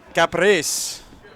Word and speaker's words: Capris: I just got a pronunciation correction there. Pronouncing Capris.